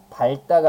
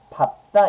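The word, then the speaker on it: 밟다: 그래서 얘 같은 경우는 발다가 아니라 어떻게 발음해야 돼요? 그죠? 장단음은 가볍게만 보세요. 밥다 이렇게 발음하게 되고요. 밥소 이렇게 발음을 하는 겁니다. 발다나 발소가 아니에요.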